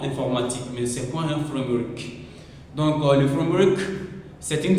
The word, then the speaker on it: framework: Framework no, c'est framework, c'est le mot l'anglais en fait. Donc en informatique c'est très important d'apprendre l'anglais. C'est très important de maîtriser l'anglais surtout au niveau de prononciation. J'attends souvent beaucoup des francophones disent fr c'est pas fram ça c'est le mot l'anglais donc a donc on dit framework mais le framework c'est